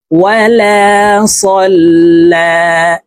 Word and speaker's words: ولا صلى: ফালা সাদ্দাক ওয়ালা সাল্লা। লামের উপরে খাড়া জবর আছে, তো এই লামকে একালিফ টেনে পড়ব।